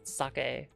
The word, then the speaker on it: sake: And I always try to try a new saki whenever we go there. I And I understand I'm saying it wrong. It's like it's sake, but I uh I've